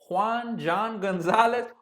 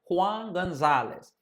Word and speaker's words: Juan Gonzalez: And some of these names I'm pronouncing them in the English way, but don't worry, I'm gonna start pronouncing them in Spanish. So the hitting coach, Juan Gonzalez. John Gonzalez, Juan Gonzalez.